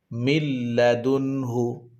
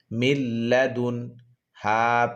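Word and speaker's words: مِن لَّدُنْهُ: নুন সাকিনের উচ্চারণটা লামের সাথে মিলিয়ে যাবে। মিম নুন লাম জের মিল, লাম জবর লা, মিল্লা। দাল নুন পেশ দুন, মিল্লাদুন। হা পেশ হু, মিল্লাদুনহু, মিল্লাদুনহু।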